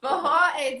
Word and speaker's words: Forró: Forró, this is one of the words that you pronounce it with like an H.